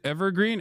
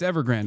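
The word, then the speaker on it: Evergrande: No, it's Ever Grand. I said it right. It's not Evergreen.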